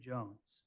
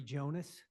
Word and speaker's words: Jonas: Uh I will call Jones. Sir, if you put your name on the record, please. Jonas.